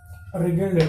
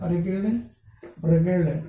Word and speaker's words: wriggled: Resumed, continued, wriggled, W is silent here, wriggled, moved by twisting and